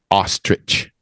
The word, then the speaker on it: ostrich: to Google and everything it's not ich it's ostrich that is apparently the correct pronunciation and it is the tallest and biggest